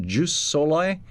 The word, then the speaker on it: jus soli: of countries have backed away from, is it pronounced jus soli, the legal doctrine of if you're born here, you are a citizen?